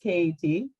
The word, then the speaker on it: CAT: Well, first, it's pronounced KAT, so very easy. Learn something new every day. Very easy to make that mistake.